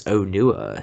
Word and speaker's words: Onua: Toa Metru is pronounced as Ottawa, and for the Toa of Earth, you basically emphasize the O, so it's Onua.